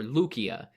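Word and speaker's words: Lycia: just described and the territory of Lysa or luukia in its ancient Greek pronunciation we last visited Lysa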